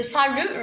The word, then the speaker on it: salut: Le salut, le T, il est muet.